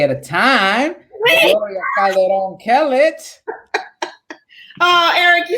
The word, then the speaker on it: Kellett: And you said the Kellett right. You have to. I hate when people don't roll the R's. People say, listen, for so long the Calderon was Calderon. Like people didn't know how to say it, but now all the Latinos know how to say Calderon, but they say Clet or Kel.